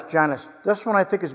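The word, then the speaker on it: Genius: know the other day I was pronouncing a Genesis it's genus it is uh G e n i u s Janice this one I think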